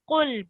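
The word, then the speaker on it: قل: And this qaf here is one of the thick letters. So it's said with a rounded mouth. So can you say qul, please? Qul. That's right. So try and say it with a heavy voice.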